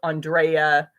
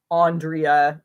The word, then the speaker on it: Andrea: my full name is Andrea and people uh he have pronounced that with some variations Andrea Andrea sounds way too formal Andrea Andy foreign my first